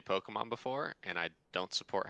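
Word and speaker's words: Pokémon: Pokemon Sword and Shield announced their expansion, Isle of Armor, and the Crown of Tundra. They're going quick thing. Go ahead. I've never heard you say Pokemon before, and I don't support how you say it.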